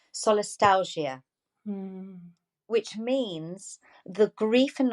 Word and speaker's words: solastalgia: my research which is solist let me just pronounce it correctly solastalgia which means the grief and Nostalgia we feel